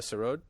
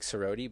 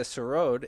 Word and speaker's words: sarode: it s-a-r-o-d or s-a-r-o-d-e it looks like sarodi but it's a road and uh it's a